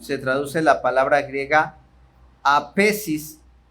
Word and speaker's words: aphesis: La palabra perdón se traduce la palabra griega aphesis. Quiero pensar que se pronuncia aphesis, ¿verdad?